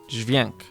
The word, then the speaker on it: dźwięk: Trying to say D plus Z with an accent should do the trick here. So that's just dźwig. It's not like J, Z, dźwięk, right?